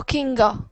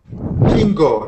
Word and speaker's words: Kinga: tu nombre kingu kinga solo kinga kingo no kinga kinga también entonces kingo kinga